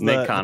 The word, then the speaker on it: Nacon: Hashtag, Andy, would you pronounce it Nason or Nacon? This is Nacon.